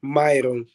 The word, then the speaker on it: Mairon: iron because in in in Portuguese they pronounce my name is myON so we'll be ID